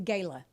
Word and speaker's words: Gala: The gayla. Yes. A I you know it's Gala Gayla. No, it's like the apple.